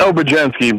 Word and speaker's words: Obadinsky: It's Obadinsky, but, you know, that's why we go by, because it's just a little bit easier. I was close. So the Z is silent.